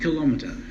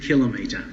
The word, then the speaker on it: kilometer: pronounce us kilometer correctly it is not kilometer it is kilometer and that's what she